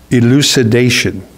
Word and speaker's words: elucidation: The word is elucidation. Elucidation. Getting the L girls here. It's spelled E-L-U-C-I-D-A-T-I-O-N.